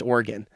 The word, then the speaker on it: Oregon: It's actually pronounced Oregon.